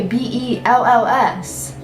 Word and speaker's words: Bealls: I don't know if you guys know what that store is or whatever, but if you were to say someone spell Bell's, they're gonna say BELLS. But Bell's Outlet is spelled BEALLS.